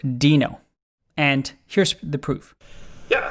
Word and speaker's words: Deno: is it dino or deno the answer it's pronounced dino and here's the proof yeah so uh we're